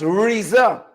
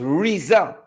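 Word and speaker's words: RZA: And we are told the name is pronounced Riza. R-I-Z-Z-A. That's how it's pronounced. If you have to spell it, that's how it's pronounced. R-Z-A. It's pronounced Riza.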